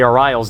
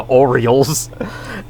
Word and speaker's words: Orioles: I mean, I was pronouncing the Orals name wrong for forever. The Orioles. It's like that freaking baseball team, right?